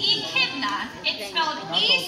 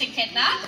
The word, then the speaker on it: echidna: or even seen one so this is edna the echidna h i dna so honestly it's spelled as weird as it sounds but if you have